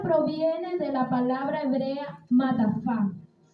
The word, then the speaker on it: matafá: El velo proviene de la palabra hebrea matafá. Se escribe M-A-T-A-F-A. Lleva acento la última A, que significa manto.